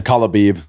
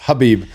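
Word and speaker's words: Khabib: Speaking of Joey Diaz, he calls him Kalabib, which is great. it's pronounced Habib.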